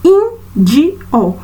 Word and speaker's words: índio: Então, índio, nós já sabemos, na primeira vogalzinha da letra I, de in, quando pronunciamos in-di-o.